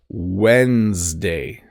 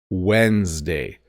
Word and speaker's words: Wednesday: a weird one because the order of the D and the N get flipped when you say it I say Wednesday Wednesday it's w DN but I pronounce it like it's w n d Wednesday Tuesday Wednesday Monday Tuesday